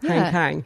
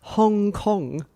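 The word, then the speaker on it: Han Kang: Anyway, it turns out that Hang Kang, Nobel Prize winner Hang Kang, it's pronounced Hong Kong.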